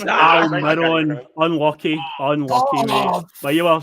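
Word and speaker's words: Almirón: The right winger for Newcastle, Alcaron. I have to take your first answer. Said Alcaron. It's Almiron.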